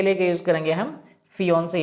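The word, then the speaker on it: fiancé: मतलब दोनों का प्रोनाउंसिएशन सेम है, प्रोनाउंसिएशन में कोई अंतर नहीं है। ये क्या है, फियांसे, और ये भी क्या है, फियांसे, है ना। फियांसे ये है और फियांसे ये है। क्लियर, दोनों का प्रोनाउंसिएशन सेम है। There is no difference between the pronunciation of these two, है ना। प्रोनाउंसिएशन दोनों का ही सेम है, लेकिन एक मैन है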